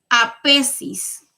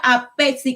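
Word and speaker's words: aphesis: Dice, es la apesis, hablando de la gracia.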